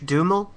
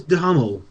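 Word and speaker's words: Duhamel: he told me again Josh duml duml D I'm pretty sure it's daml but I could be wrong him him who is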